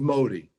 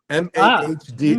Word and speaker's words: Mahdi: looking for, whose name, by the way, is Modi. Mahdi.